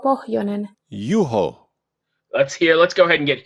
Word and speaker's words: Juho: Let's go ahead and get Juho, or however you pronounce it. Wait, hang on. Let's hear it again. Okay, 1 second. Juho Pohjonen, Juho Pohjonen. Juho.